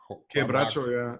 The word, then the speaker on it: quebracho: Quebracho, yeah.